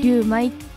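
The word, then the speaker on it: 龍味: 思いますはいあの龍に味と書いてりゅうまいと読むお店なん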